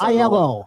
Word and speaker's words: Aiello: And we've got Miss Aiello. Did I say it right? Aiello. Yeah. Just say it fast. Aiello.